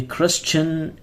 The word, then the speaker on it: Christian: 20, BCE, before the Christian era. Chris, this is silent.